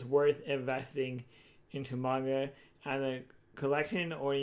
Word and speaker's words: manga: I'll read the manga and I'll get caught up. Speaking of manga, or manga actually is the right pronunciation.